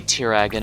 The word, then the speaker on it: Tiragan: In the anime episode, Yuma used baby Tiragan in order... He pronounced it Tiragan, at least.